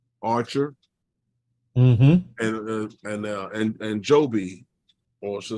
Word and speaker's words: Joby: company there um Archer and uh and and Joby also say jobby as they pronounce it right so a lot of these